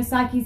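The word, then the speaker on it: Saiki: and vocals spokesperson psyche so psyche was the one I was a little shaky about on her name but it is psyche psyche vocals Misa bass Konami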